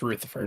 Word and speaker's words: Rutherford: Technically, it's pronounced Rutherford.